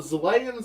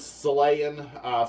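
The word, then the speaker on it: Xelayan: Their name is Zelayan, spelled with an X, so maybe it's supposed to sound more Z-like, Zelayan. Although sometimes it sounds like they're saying Salayan, with an S, the way it's pronounced. It's hard to tell, like the way it was pronounced in the show, I thought. But it's spelled with an X. So, Salayan? It should be Zelayan, I guess.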